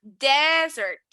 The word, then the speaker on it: desert: Fíjate que aquí voy a decir, el énfasis va a ir en mi primera sílaba, desert, desert. Y en esta otra, el énfasis va a ir en la última sílaba, dessert, right?